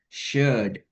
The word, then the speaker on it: should: Oke, yang pertama untuk L dalam kata could, should, would hilangin semua, Kak Alya.